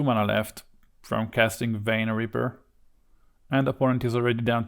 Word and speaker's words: Vein Ripper: Is my pronunciation right this time? Vein Ripper? Because Vine Ripper wasn't really that good, I think.